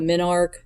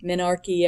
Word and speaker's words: menarche: first period which is called a min arc menarche I've heard it pronounced both ways and so it's just